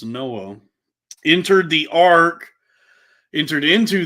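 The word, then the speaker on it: Noe: the day that Noah it's spelled no OE here so it's not noi it's Noah entered the Ark entered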